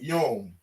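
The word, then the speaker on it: יוֹם: we have yum yeah they said young right they pronounce it yom the root word yum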